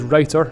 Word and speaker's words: router: homemade router table now i have just looked up the pronunciation it is writer from the obsolete verb to write which means to dig out or remove so i'm not just